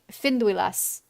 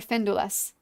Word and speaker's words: Finduilas: I've seen a lot of Finduilas being Gilgalad, or Findulas, whichever way you want to pronounce it.